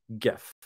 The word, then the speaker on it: GIF: uh by the way it is hard G gif Chief among the hills